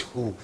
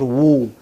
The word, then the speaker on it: who: what is this who this is who this is not woo okay this is who